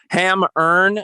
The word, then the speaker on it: Hemmerne: Hammerne, that's spelled Hemmerne, and Gilded Wings.